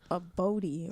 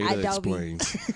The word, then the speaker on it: Adobe: That's how you say it. Adobe. Oh, okay. It's like How you said it? I said a Bodie or something.